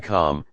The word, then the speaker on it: calm: L is silent in calm, talk, half. Silent letters often come from Old English or French roots.